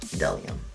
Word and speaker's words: bdellium: And again, it's bdellium tools, pronounced bdellium.